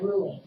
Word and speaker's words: Ruline: Ruline? Ruling. Really? Like you're ruling something? Ruling?